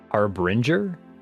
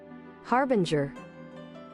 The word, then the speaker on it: harbinger: Harbinger. Was I? Wait, was there not an R in there? Harbinger. Oh, that's why I thought it was bringer because I thought it was I thought it was bringer.